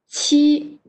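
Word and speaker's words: 七: follow me so how about seven can you pronounce it very good she it's not not hard right here this one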